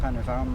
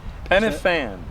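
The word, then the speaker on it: Pen y Fan: panoramic view looking at penan the highest mountain in the area penan penan pan a single F in Welsh is pronounced v ah a double F in Welsh is pronounced F very interesting okay very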